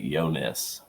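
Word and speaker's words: Ionescu: s cuu lco well it's pronounced like yo like yonas yonas all yeah I would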